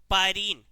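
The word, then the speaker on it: pyrene: नहीं लाल carbon टेट्राक्लाइड carbon tetra chloride इसी carbon टेट्राइड को क्या बोला जाता है बेटा पायरीन क्या कहते हैं पायरीन जब बिजली से कहीं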